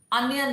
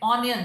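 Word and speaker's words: onion: ऐसे ही अनियन बोलते हैं, ऑनियन नहीं, इट्स अनियन.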